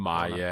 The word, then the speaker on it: Imai: Is that how you pronounce his last name? Imai, Tatsuya Imai.